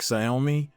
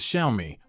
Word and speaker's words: Xiaomi: together it reads as shiai with the emphasis on the second syllable leay June claims that